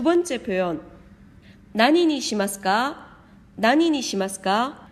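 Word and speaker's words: 何に: 뒤에 이렇게 니가 올 때는 난보다는 나니라고 읽는 것이 발음하기가 더 편합니다. 난니 시마스카라고 하지 않고 나니니 시마스카 이렇게 표현한 겁니다.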